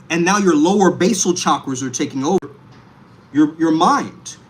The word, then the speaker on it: chakra: Don't say chakras like a white girl from Arkansas or something, okay? Don't say chakras. I'm trying to align my shit. What the hell? Chakra. Chakra. You gotta say it correctly, bro.